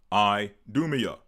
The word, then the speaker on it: Idumea: Hence, the region Idumea. So that's another term you'll hear us use. Idumea, or the Idumeans. Idumea being the Greek word, or the Greek pronunciation for Edom.